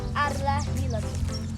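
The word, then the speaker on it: Al-Rihla: O nome árabe se escreve A L tracinho R H L A, mas a pronúncia é meio diferente porque é em árabe, mas seria arrarila.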